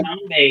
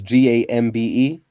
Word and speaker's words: Dambe: That was Gambe. No, Dambe. D is in dog. D. Yeah, Okay. Dambe.